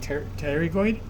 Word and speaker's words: pterygoid: That's your pterygoid process. The P is silent, but you pronounce it pterygoid.